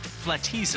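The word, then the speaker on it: Flatizza: It's pronounced Flateza. Flateza.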